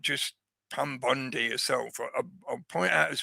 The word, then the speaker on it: Bondi: involved not just Pam Bondi herself I'll point out as well the name Bond I bond E. Yeah, I know we pronounce it E in the English language or most of us anyway.